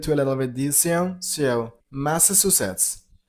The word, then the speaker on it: Massachusetts: And while you pronounce the state name, you got to stress on the third syllable. Musets. Masses. Masses. Masses. The last is blended to a little bit. So, Massachusetts. Massachusetts.